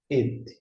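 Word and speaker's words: את: Portanto, temos o Aleph com o serê, neste caso, Aleph é mudo, e aqui nós temos a vogal, o som de E. Agora nós temos o som de T. E quando você junta, et.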